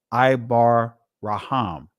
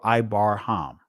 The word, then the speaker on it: Abraham: be called Abram by thy name Shall be Called Abraham ibar raham ibar raham or ibar ham right ibar raham for a father of many nations have I made thee all right so but thy name sham shall be Abraham right ibar raham okay and we see that